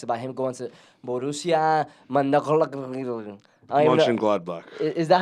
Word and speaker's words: Mönchengladbach: lot of talks about him going to Borussia Mönchengladbach. Is that how you pronounce it?